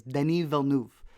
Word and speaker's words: Denis Villeneuve: I'm pronouncing it in his French, because I think he's from Quebec. I'm not sure where he's from, but it's Denis Villeneuve.